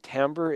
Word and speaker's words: timbre: The other thing is you have different timbres, and timbre is spelt T-I-M-B-R-E.